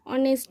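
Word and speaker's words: honest: এটা এইচ দিয়ে উচ্চারণ, কিন্তু এর আমরা অ দিয়ে এটা উচ্চারণ হয়, অনেস্ট ম্যান, অনেস্ট ম্যান।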